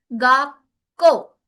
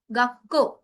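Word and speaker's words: がっこう: तो अब क्या हो रहा है, को से पहले छोटा चू आ गया। इसका मीन्स को की डबल साउंड आ गई। सी हियर, डबल के, तो इट विल बिकम गाको, गाको।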